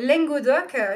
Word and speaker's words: Lengadòc: Alors, ma radio, c'est Radio Lengodoc, qui s'écrit Lengadoc. Langue L-E-N.